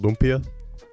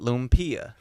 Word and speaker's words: lumpia: Is it lumpia?